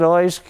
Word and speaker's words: Erskine: It wasn't Carl Erskine. It was Carl Erskine. I could hear these guys in the stand. Throw it through his head, Oysk.